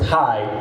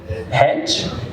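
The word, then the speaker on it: hej: my first lesson and the first word was high pronounced High meaning High spelled h e j hedge and I said HED to doinga and I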